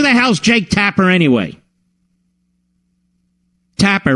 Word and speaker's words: Tapper: Tapper rhymes with clapper.